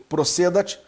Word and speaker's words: procedat: Princípio do ne procedar, alguns pronunciam procedat, iudex ex officio.